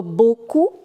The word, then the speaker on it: beaucoup: EAU is O and OU is OU. So beaucoup, la Bretagne.